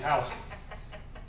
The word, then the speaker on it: Houston: She thought it was Houston and Houston Street. It's like, baby, please don't say that because they will know you're not from here. It's Houston. It's Houston.